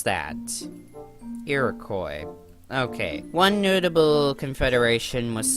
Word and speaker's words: Iroquois: How do you pronounce that? Iroquois.